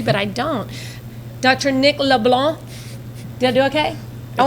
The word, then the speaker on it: LeBlanc: Did I say LeBlanc. it right? No C, and you have to say it with a capital B in there, too.